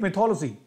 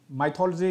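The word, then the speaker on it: mythology: Greek मिथोलॉजी, what you से pronounce as माइथोलॉजी, माइथोलॉजी is incorrect pronunciation, the correct one इज मिथोलॉजी, बाकी आपकी मर्जी है ना यार, मैं थोड़ी ना रोक सकता हूँ, हु एम आई।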